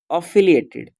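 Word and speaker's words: affiliated: ठीक है, इसको एफिलिएटेड नहीं पड़ेगा, एफिलिएटेड। ठीक है, तो इसका देखिए मैं प्रोनाउंसिएशन भी यहाँ पे दे दिया हूँ, अफिलिएटेड।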